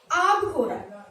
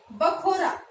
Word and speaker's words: आबखोरा: एक शब्द और देखिए, ये है आबखोरा। आबखोरा शब्द, ये हरियाणवी रूप देखना इसका, हरियाणवी में इसको हम बोलेंगे बखोरा।